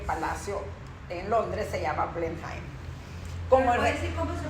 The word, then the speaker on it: Blenheim: Por esto es que el palacio en Londres se llama Blenheim. ¿Puedo decir cómo se pronuncia?